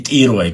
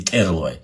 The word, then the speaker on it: Тируай: Как и тируай говорить надо, а не терлуай.